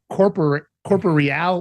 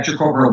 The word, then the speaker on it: extracorporeal: Tell me about, and I think it's pronounced corporeal blood ozonation? Yeah, extracorporeal blood.